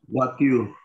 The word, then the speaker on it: voiture: Voiture. Voiture, exactement. Why voiture? Because OI sound is wa in French. We have, yes, and we have E sound is a.